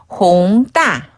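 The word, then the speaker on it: 弘大: 옛난 똥 옛 난동 그다음 홍대는 홍따 홍따 홍따 홍따네요 따는 대학할인 대장인데 얼마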